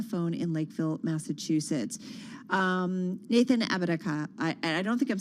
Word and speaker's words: Apodaca: Nathan Apodaca, I don't think I'm saying it right. Apodaca, thank you. Apodaca.